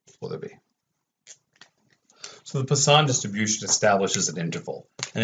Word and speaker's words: Poisson: That said, I know how it is not pronounced, and it is not pronounced Poisson. It is not the Poisson distribution, as I keep getting students want to tell me. It's Poisson, or something like that.